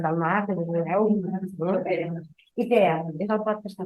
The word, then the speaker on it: Ikea: Ikea, no, Ikea no, Ikea. Que consti. No, perquè jo sempre he dit que Ikea és un nom grec. És la pronunciació exactament de la paraula que vol dir casa.